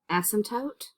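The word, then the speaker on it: asymptote: right o1 rational functions this is pronounced ASM toote and excluded values what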